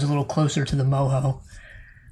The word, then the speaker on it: Moho: of a correction i i spelled moho the lair of the earth as mojo yeah you know using the spanish sort of pronunciation of the letter j it's actually not it's m-o-h-o huh and it's short for like it's actually moho yeah it's sort of